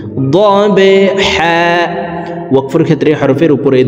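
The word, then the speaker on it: ضَبْحًا: ওয়াল আদিয়াতি, দিয়াতি, জিহ্বার মধ্যখান থেকে ইয়ার উচ্চারণ হবে, ওয়াল আদিয়াতি দবহা। বা কলকলার হরফ নিচের দিকে ধাবিত করে ধাক্কা দিয়ে উচ্চারণ করব, দবহা।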